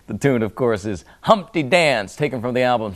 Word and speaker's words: Humpty: just let me introduce myself my name is Humpty pronounce with the humty yo ladies oh how I like to funp